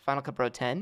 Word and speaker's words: Final Cut Pro X: other useful articles documentation this pronounced Final Cut Pro 10 and not X how to submit feedback